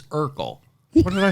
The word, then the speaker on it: Urkel: purple jerkle not you it's not yurkle it's urkel what did i say